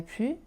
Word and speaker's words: plus: Quand il s'agit d'une phrase négative avec ne plus, on ne prononce pas le s. Je ne travaille plus et il n'y a plus de monde.